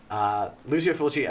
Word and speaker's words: Lucio Fulci: I think I mispronounced that. It's Italian. Yeah, it's Italian. Lucio Fulci, another major giallo director, though.